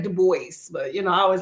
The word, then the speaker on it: Du Bois: Du Bois. I say that right? I used to say Du Bois, but I always like to pronounce every single letter. But it's Du Bois, right?